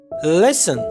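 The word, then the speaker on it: listen: लेसन यानी सुनना, यहाँ पर टी जो है ये साइलेंट है, यानी साख्त हुरूफ है।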